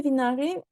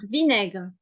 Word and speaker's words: vinaigre: euh mettrai beaucoup de vinar parce que c'est très très délicieux avec les vinar c'est pour ça que qu attention à la prononciation vinaigre le vinaigre oui c'est pe ça